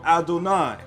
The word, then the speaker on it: Adonai: therefore again it says not as I am written am I pronounced I am written with the letters yod hey War hey I am pronounced Olive dalit and of course noon and yod is inserted Adonai is what is referring